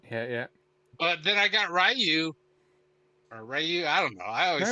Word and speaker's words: Ryu: But then I got Ryu. I don't know. I always say Ryu.